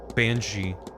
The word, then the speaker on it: banshee: Bean she. Bean is ban. Banshee. Oh, thank you.